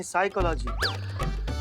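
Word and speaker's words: psychology: तो साइकोलॉजी नहीं साइकोलॉजी, P silent होता है।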